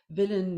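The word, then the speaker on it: Vilnius: to see now all right make sure I'm pronouncing it right villain yes in Lithuania although it is perfectly imperfect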